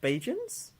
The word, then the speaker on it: Bajan: How do you pronounce that? Bajans?